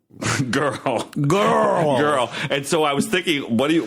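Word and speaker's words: Jørrel: So when I was in Norway this past year, I met somebody, and her name was Girl, and it's spelled J with an O and a slash to the O, RREL. Girl.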